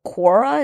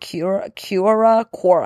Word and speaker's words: Quora: Like, I'm on Quora. Is that how you pronounce it? Quora.